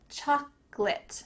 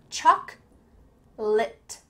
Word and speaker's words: chocolate: Just remember, choc-late, choc-late. If you say choc-o-late, people will look at you a little bit strange, so make sure you cut out that middle part and just say choc-late.